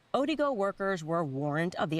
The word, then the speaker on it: Odigo: There was an instant messaging service that was called Odago. maybe I'm saying it wrong, Odigo, O-D-I-G-O.